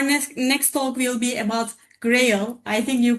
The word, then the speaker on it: GRHayL: Our next talk will be about GRHayL. I think you pronounce it in this way.